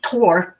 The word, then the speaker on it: Thor: And uh Thor Tor is pronounced to.